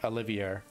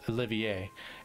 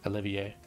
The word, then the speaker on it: Olivier: his name now and i realized i've been pronouncing it all wrong i've been saying olivier but and it wasn't in reference to this